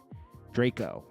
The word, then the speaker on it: Drakeo: punished for his crimes uh drachio Draco that's how they say it uh so Soulja Boy